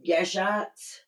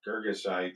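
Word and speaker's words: Girgashites: Phoenicians and the Hittites and the Jebusites and the Anurites and the Gashites. How do you say that? Geggosites. Gegosites and the Hivites and etc.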